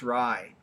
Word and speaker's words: RAI: that i think rye it's rai and pronounced rye and we were talking